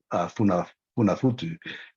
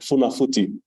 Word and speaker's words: Funafuti: Someone's asked, what's the correct pronunciation of Tuvalu and Funafutu? And I'm definitely not doing any justice, Minister. So it's Tuvalu. That's how you pronounce the Tuvalu, and the capital is Funafuti.